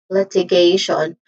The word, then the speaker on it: litigation: Again, litigation where the stress syllable is on the third syllable.